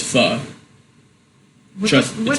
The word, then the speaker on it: pho: opened up his own restaurant, and it's not pronounced pho. It's pronounced pho.